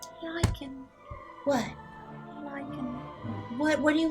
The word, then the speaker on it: lichen: you think they have licking pox? I think a lot of people want to be ruled. I Is that think how that you pronounce it? Licking? Lichen.